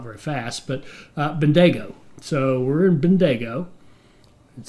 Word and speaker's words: Bendigo: it's civilized cam told me this should be pronounced as Bendigo says as fast as I can which realize with my accent that's not very fast but Bendigo so we're in Bendigo it sounds like a